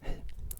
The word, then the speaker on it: hej: say that is hej. H-E-J. Hej. So it's really simple. 3 letters. Hej. Now you've said hello in Swedish. And hej also happens to be the pronunciation in Norwegian as well, however with an